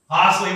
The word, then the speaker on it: Harsley: Harsley rhymes with parsley.